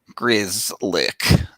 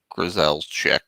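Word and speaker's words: Grzelcyk: we could either uh grizzly that's how you say it chad is telling us that that's how you say it grizz lick not grisel's check or whatever cool uh in any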